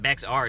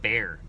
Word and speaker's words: Bexar: the name of also the name Bexar as in Bexar County is pronounced like bear oh okay so it's not beex R it's just bear I enjoy the video